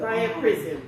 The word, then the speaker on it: Priapism: Can you pronounce it's prior prism. Let me see. Let's get the Priapism.